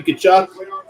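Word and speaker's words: Tkachuk: Matthew Kachchuck. Not exactly how it's spelled the way you think it is.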